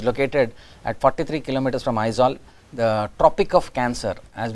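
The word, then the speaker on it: Aizawl: Mizoram, Aizol. So A-I-Z-A-W-L, the pronunciation is Aizol, I-Z-O-L. How do you pronounce the word I-Z-O-L? Aizol. So you have to pronounce it as Aizol.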